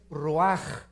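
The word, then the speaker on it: רוח: Nep se pronuncia nepj porque la ch en hebreo es nepeg y la palabra espíritu es roaj. Se escribe ruch.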